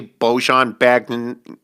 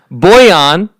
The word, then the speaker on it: Bojan: Okay, so Bojan apparently is like the proper pronunciation, but most people here, not here being on the show, but like in the league and everything, as far as I've ever heard it, is Bojan.